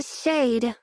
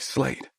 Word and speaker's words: Slade: And Uncle Shade. Molly adds, pointing at the second photograph on the table and mispronouncing his name. Yeah, like Slade, I answer, staring at the photo that's like looking into a mirror.